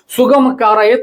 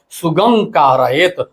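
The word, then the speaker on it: सुगमं कारयेत्: सुगम कारयेत लोग बोलते हैं प्रार्थना में, लेकिन शुद्ध उच्चारण है सुगम कारयेत। म का अंग हो गया कारयेत के क के कारण।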